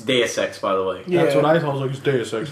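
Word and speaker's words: Deus Ex: that was that and do sex I know I say it wrong but that that was that was it's day of sex by the way that's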